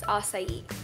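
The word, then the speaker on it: açaí: You don't like pronounce it the way it's spelled, but the real pronunciation is acai.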